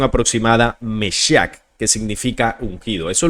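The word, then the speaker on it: משיח: En las religiones abrámicas, el Mesías, del latín bíblico Mesías, y este es a su vez del hebreo Mashiach o Meshiach, pronunciación aproximada Meshiach, que significa ungido.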